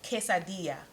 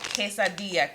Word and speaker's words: quesadilla: use some queso quesad one goody crew member taught me how to say this and i'm gonna say it right quesadilla give me my credit in the comments if i said it right quesadilla queso quesadilla if if